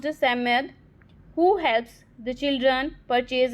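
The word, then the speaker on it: Psammead: here the 4 children Robert, एंथिया, Cyril and Jain encounter a magical being, the Samad, pronounced Samad, who helps the children purchase an ancient amulet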